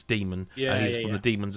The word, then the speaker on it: Daemon: It's one of those where it's spelt Daemon, but it's Demon.